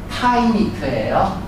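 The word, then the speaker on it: finite: 절대로 인피니트가 아니라 파이니트예요. 발음이 틀려.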